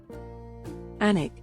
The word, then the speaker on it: Alnwick: Alnwick, England. The first thing you should know about Alnwick is that the I is not pronounced. You can also skip the W, and, of course, the C and K.